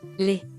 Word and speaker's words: les: For example, the definite article for plural nouns is pronounced Les. and the final S is silent, but S is pronounced as Z when followed by a word beginning with a vowel, for example, Les amis, les étrangers, les images, les oiseaux, les universités.